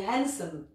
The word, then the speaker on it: handsome: D comme dans Wednesday on prononce pas le d ici on dit handsome ici on dit sil